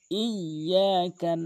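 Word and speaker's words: إِيَّاكَ: ইয়াতে তাসদীদ রয়েছে, ডবল উচ্চারণ হবে। ইয়াকা নাবুদু।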